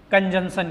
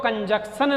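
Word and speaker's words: conjunction: अब कंजंक्शन का मतलब सबको पता है, देखो कंजक्शन नहीं बोलते हैं, प्रोनाउंसिएशन भी आपको याद रखना है, कंजंक्शन बोलेंगे। ठीक है। कंजक्शन नहीं बोलेंगे, कंजंक्शन बोला जाएगा।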